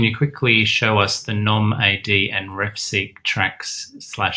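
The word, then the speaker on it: gnomAD: Oh, Nomad. Yes, I'm sorry. Nomad, okay. Sorry. Pronunciation. Yeah, we like to pronounce it that way because that's actually a word, right? A nomad. It's not spelled that way.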